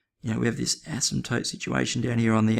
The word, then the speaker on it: asymptote: our vertical ASM toote our vertical ASM toote with the silent p and it's at um